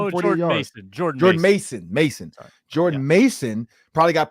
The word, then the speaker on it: Jordan Mason: so I'm pretty sure Jordan ma is it Jordan major or how do you say his name Jord Mason Jord Jordan Mason Mason Jordan Mason probably got picked up on